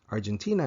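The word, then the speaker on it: アルゼンチン: The UK is Igiris, Igiris, which is basically England, and Argentina is Argentin, Argentin.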